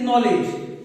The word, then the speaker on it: knowledge: Silent मतलब उसको हम पढ़ते नहीं है, जैसे कि नॉलेज, यानी कि KNOWLEDGE नॉलेज, लेकिन यहां पर के साइलेंट है।